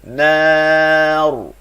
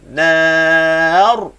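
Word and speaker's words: نار: Ra tu bila kita waqaf pada ra tu wajib baca tebal. Sebab apa dia? Sebab nun ini baris atas. Maka ra baca tebal. Tengok cara baca. Nar.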